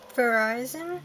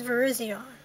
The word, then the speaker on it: Virizion: Some people say Verizon, but I think it's Virizion. Or at least in That's how I heard it pronounced once before.